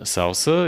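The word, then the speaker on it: SLSA: whole application life cycle we have also the salsa it's pronounced also even though the acronym is not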